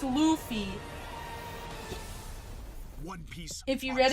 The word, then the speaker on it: Luffy: It's Luffy.